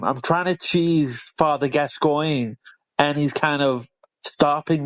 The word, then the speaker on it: Gascoigne: That's actually pronounced Father Gascoigne.